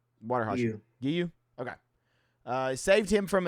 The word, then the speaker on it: Giyu: Is it Giyu? Gayu? How you say his name? Water Hashira. Giyu.